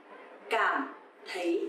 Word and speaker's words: cảm thấy: Cảm thấy, cảm thấy. So here you will see the letter C. You will pronounce like letter K in English. And TH, you will pronounce like th, th. So, cảm thấy.